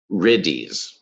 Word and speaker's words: riddhi: Essentially, these are the riddhis. And they're pronounced different ways. They're also pronounced Iddis too, in 2 different languages and sects of Buddhism pronounce them differently.